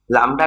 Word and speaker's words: लैम्ब्डा: इसको डिनोट किया जाता है लैम्ब्डा और इसको लैम्ब्डा लैम्ब्डा पढ़ते हैं हम लोग उल्टा y टाइप का सिंबल आएगा ये इसको प्रोनाउंस क्या करना है ये प्रोनाउंस करना है